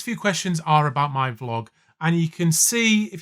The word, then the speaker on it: vlog: So a number of people have asked, do you know it's pronounced vlog and not vlog?